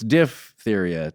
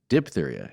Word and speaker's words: diphtheria: And it's also unkind to me because it's diphtheria, not diphtheria, as we've been sometimes saying. So I've been saying it wrong My whole life. I've heard it kind of both ways in that vague way that you don't. I only heard it the dip way.